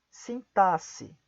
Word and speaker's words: sintaxe: Algumas outras exceções, temos também as palavras, além de auxílio, máximo, próximo, sintaxe. De novo, máximo, próximo, sintaxe. Essas palavras são algumas outras palavras que também são pronunciadas como S.